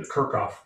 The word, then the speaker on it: Kirchhoff: the kirchhoff loop rule i will say it in the american way the kirkhof rule h h oh i'll